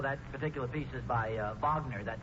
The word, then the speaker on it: Wagner: particular piece is by Vagner that that's pronounced vogner son I simply said